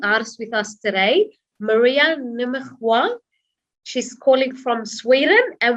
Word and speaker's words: Nimmersjö: Oh, Nimmersjö. It's difficult. It's a really Swedish one. How do you say it? Sorry? Nimmersjö. Did you hear it? Nimmersjö?